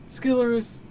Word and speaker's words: Skilorus: How do you pronounce it? Skilorus. That's how you pronounce it.